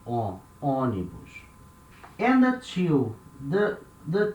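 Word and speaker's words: ônibus: o here it has a little sound on oni bush and the two the the two above letter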